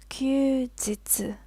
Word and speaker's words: 休日: It's pronounced 休日.